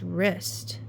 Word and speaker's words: wrist: It's wrist. They tried to get us with the silent stuff again. So wrist has a W at the beginning. So wrist is supposed to be spelled W-R-I-S-T. Wrist.